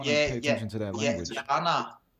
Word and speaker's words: Jana: Yana, and someone might even pronounce it Jana, but that's like the dull Danish version of the name. okay. That's But it is interesting. Jana. That is the proud Faroese way to pronounce it.